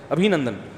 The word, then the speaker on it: ابھی نندن: کسی نے بتایا ابھی نندن ہے, ابھی نندن نہیں ہے, صحیح تلفظ کیا ہے بھائی, ابھی نندن.